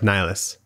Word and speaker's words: Nihilus: Yeah, that not Darth Nil, Darth Nihilus. Oh.